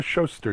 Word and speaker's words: Schuster: Is it Schuster or Schuster now? I forgot. How do you pronounce it, Barak? It's Schuster. Schuster. Schuster's with a U.